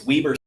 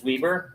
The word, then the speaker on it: Weber: Is it Weber State or Weber State? Let's see. I'm asking chat. Oh, okay. They probably can't understand. What are you talking about, dude? That's funny. I think pronunciation. Let's see here. I think it's a tomato tomato type of thing. It's Weieber. It is Weieber.